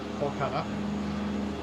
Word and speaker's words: Kolkata: However, they changed its name till 2001 and named it Calcutta in the Bengali language, Kolkata. Calcutta is the anglicized form of it. To match the local pronunciation.